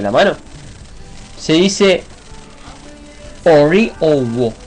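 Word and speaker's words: ọwọ̀: Owo. Eso es la mano entera. Owo. O, punto debajo, W, O, punto debajo, acento grave.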